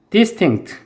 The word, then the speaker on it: distinct: distinct, 얘는 강사 앞에 있어요.